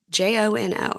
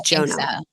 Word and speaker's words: Jono: um we see jono j o n o am I saying it correctly it's jono jono it's short for something um he's oh it's like short for Jonah or something he's from Antiga he's